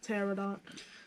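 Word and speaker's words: pteranodon: blood Hawk a sturge a pterodon a pterodon yes the p is silent a giant goat a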